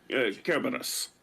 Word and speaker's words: Cerberus: how he spelled it classical Latin also uses a hard k sound uh Kus yeah but it then Yeah well yeah cobas um and then in the English we do Cerberus which I hate because we converted a